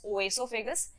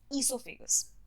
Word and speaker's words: esophagus: It is not pronounced as oesophagus, it is pronounced as esophagus.